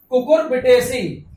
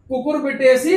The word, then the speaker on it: Cucurbitaceae: ऑफ कुकुरबिटेसी, ये लिखा है कुकुरबिटेसी, ठीक है, स्पेलिंग बोल देता हूं, CUCURBITACEAE कुकुरबिटेसी, ठीक है, प्रोड्यूस मैनी पोलन ट्यूब, जब पोलन